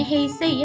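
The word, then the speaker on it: 平成: Nah, ini dibacanya heisei ya minasan ya.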